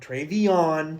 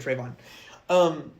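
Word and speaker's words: TreVeyon: Travion, 3 syllables. I didn't even catch that. Oh, that's good. I totally said Trayvon.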